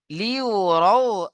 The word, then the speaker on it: ليروا: يومئذ يصدر الناس أشتاتا তারপর দেখেন লিউরাউ আ'মালাহুম লাম জের লি ইয়া পেশ ইউ লিউ র ওয়াও জবর রাউ লিউরাউ লিউরাউ আ'মালাহুম হামজা আইন জবর